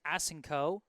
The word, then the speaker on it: Aseno: The Nic commentators giving me a hand here, letting me know that number 12's last name is pronounced Aseno.